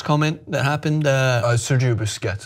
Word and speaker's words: Busquets: Al salty biscuits comment that happened I Sergio Busquets it's pronounced boo success salty biscuits coming is because Barcelona mentioned in